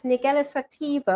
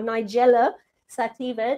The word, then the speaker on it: Nigella sativa: That's Nigella sativa or Nigella sativa, depending on your pronunciation.